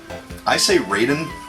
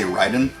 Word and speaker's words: Raiden: some people might say Ryden I would say Raiden I say it's Raiden because it's spelled the same way that the character in Mortal Kombat spells his name and we always call